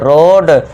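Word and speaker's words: road: जब वर्ड में ओ ए आए तो ओ ए को ओ से साउंड देना है। ओ ए के लिए साउंड क्या देना है? ओ का साउंड देना है तो इसे क्या पढ़ेंगे? र ओ ड रोड ल own loan रोड loan loan रोड eighth देखिए जब वर्ड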